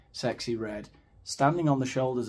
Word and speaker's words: Sexyy: watch yourself sexy red sexy is spelled with two y's I don't know what the second y adds to uh the pronunciation it's sexy well Ben if you've